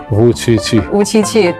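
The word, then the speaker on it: Vučić: They even give you a nickname called because your pronunciation of your name, Wu Qiqi. Yes, right. Actually, it's the same with the numeral pronunciation of Chinese.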